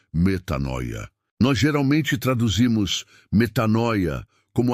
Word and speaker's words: metanoia: A Bíblia tem um conceito poderoso para isso, uma palavra grega fundamental, a palavra é metanoia, que se pronuncia metanoia.